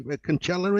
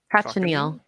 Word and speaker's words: cochineal: bug that is acceptable to eat, and I can't pronounce it probably. Conchella, is it?